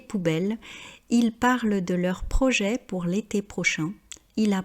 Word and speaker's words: projet: Vous remarquerez donc qu'on ne dit pas projette, mais projet, car on ne prononce pas la dernière consonne et on ne prononce pas non plus la marque du S.